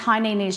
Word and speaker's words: Hainanese: It's pronounced Hainanese chicken.